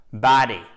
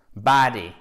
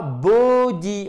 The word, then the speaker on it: body: On commence par le commencement, body, body. L'accentuation, elle se fait sur la première syllabe. Donc, c'est une voyelle longue et c'est pas body, ok?